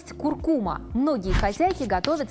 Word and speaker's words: куркума: Есть такая пряность – куркума. Многие хозяйки готовят с ней вкуснейшие кулинарные шедевры. Часто произносят название специи неправильно, говорят «куркума». Это латинское слово, и ударение падает на второй слог.